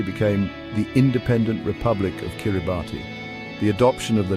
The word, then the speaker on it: Kiribati: The pronunciation with the S sound for T became an integral part of their new identity, a linguistic marker that distinguished their own name from its English origin.